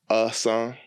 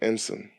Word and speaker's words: Hutcheson: the okay so when people hear my name even though I say uh son they always hit ensign so they always spell it out i n s o n I'm like no I'm black it's ESO so there's a difference it's a difference okay all right so I